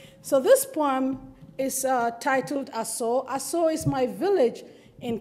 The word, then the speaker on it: Ashum: It is spelled Ashum, but my people call it Aso, because to forget Aso is to forget the blood that runs in my body.